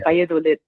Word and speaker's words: Valladolid: I bungled it, and I bungled it in the normal English manner. My Spanish friends will chastise me, I'm sure. It's taken me years to pronounce it properly. Like, it's one of those ones, even in Spanish, I constantly, Valladolid.